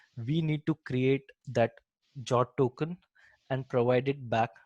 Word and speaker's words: JWT: So jot comes into the picture, which is like JWT, which I pronounce it as jot, which is JSON web token.